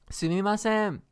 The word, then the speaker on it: Sumimasen: How do you pronounce it? Sumimasen.